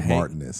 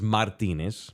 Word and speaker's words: Martinez: name was Martinez now the correct not say Martinez the correct pronunciation is Martinez but you don't have